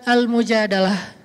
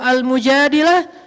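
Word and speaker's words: المجادلة: Kalau almujadilah perempuan yang curhat. Kalau almujadalah curhat. Jadi tergantung kita bacanya dilah atau dalah. Kalau kita baca mujadilah berarti perempuan yang lagi curhat. Kalau kita baca almujadalah berarti curhat itu sendiri.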